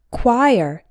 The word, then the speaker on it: choir: and caveat number two choir this means a group of singers and this small word actually has two syllables the CH o sounds